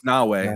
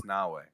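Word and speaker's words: Naoe: Is it Nai or is No, it's Nawei. It's Nawei.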